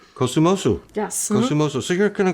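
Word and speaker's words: Kosumosu: Hopefully I can pronounce this correctly. Kusumosu. Kusumosu. Yes. Kusumosu.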